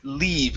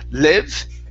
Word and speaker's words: leave: The word leave. Give me a good long e sound. Instead of live, it's le. Leave.